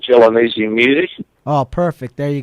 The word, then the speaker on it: Gelonese: If they go into just my name, it's Gelonese. How do you spell that?